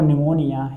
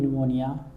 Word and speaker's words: pneumonia: P stands for pneumonia. Here P is silent in pneumonia.